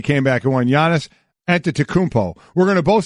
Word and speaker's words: Antetokounmpo: Not aunt. Aunt. It's like auntie or auntie. It's actually, you don't even pronounce the N. It's Antetokounmpo.